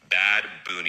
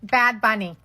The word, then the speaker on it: Bad Bunny: 2025 Super Bowl halftime show will be performed none other than Bad Boon. Bad Bunny. It's uh Bad Bunny. Not it's not pronounced Bad Boon.